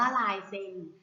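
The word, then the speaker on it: ลายเซ็น: คำ ว่า ลาย เซ็น ลาย เซ็น อ่าน ว่า ลาย เซ็น ลาย เซ็น ประกอบ ไป ด้วย รอ ลิง สระ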